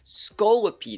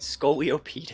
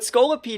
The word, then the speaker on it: Scolipede: So pulling up Pokemon Showdown right here, we're going to pull up Scolipede, and I think I used to be pronouncing it Scoliopede. It's not like it has scoliosis, right? But Scolipede is actually a really cool mon.